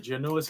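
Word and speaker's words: Giannoulas: actually have this guy's autograph Ted gianis right gianis is how you's pronounce it I said there it is and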